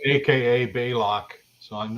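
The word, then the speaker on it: Balok: that that's um I changed my name aka Bailock. So I'm not How do you spell that anyway? Hi Robert. B A L O K. Block. Block. Fit to be bailock.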